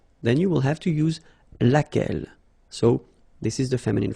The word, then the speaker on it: laquelle: so basically same rule, QU, U is not pronounced here, and then you get this double LE, well, phonetically here, it is the same as what we have here, so laquelle.